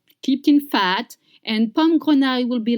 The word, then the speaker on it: grenaille: Confit de canard, pommes, grenaille. Confit de canard, pommes, grenaille. Let's try together. Confit de canard, pommes, grenaille. Grenaille, you have the I sound.